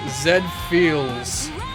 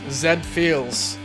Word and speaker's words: Z-Feel: Z-Feel. It's pronounced Zed-Feels. Oh. Zed-Feels. It's pronounced Zed-Feels, like the anime robot, you know?